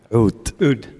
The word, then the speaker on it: Oud: How do you pronounce it in Arabic? Oud.